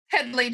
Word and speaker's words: Headlee: Headlee, just like it's spelled.